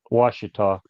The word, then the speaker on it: Ouachita: yeah, That's how they pronounce it. It's Ouchita, I think, yeah. but they pronounce it Ouachita.